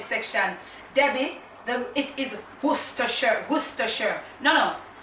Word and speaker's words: Worcestershire: I use to our problem spoon it is worse s to share okay that is the white pronounce it's not just the share for me